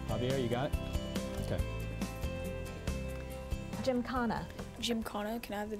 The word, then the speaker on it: gymkhana: Gymkhana. Are there any alternate pronunciations? Gymkhana.